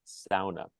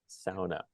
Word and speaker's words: sauna: to preserve it uh I grew up pronouncing that word just like Tom did in the Finnish dialect it's the one Finnish